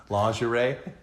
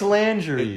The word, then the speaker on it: lingerie: Do you know that we mispronounce lingerie? Yeah, you say it's lingerie. It's supposed to be lingerie. Yeah, it just does not sound very French-like. But hey, that's the actual pronunciation.